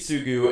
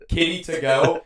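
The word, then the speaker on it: Kiritsugu: The character's name is Kitsugu, and it was pronouncing it as Kitty to go.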